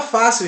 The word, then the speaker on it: fácil: Porque esse I, esse L, ele automaticamente ele faz com que a sílaba ela feche no final. Fácil. Ok? Fácil. C-I-L. Fácil. Então esse A fica em bastante evidência e a palavra fácil ela é acentuada paroxítona. Bônus, mas falamos de bônus,